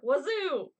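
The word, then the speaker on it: oiseau: I thought it was Wazoo. No. Wowooks. No. But close. Wazo? Yeah. Wazo. Wazo. Oui. Well, my French teacher would probably murder me for that pronunciation. Isn't wazoo the same thing? Wazoo, wazo, you know. No, wazoo is something else.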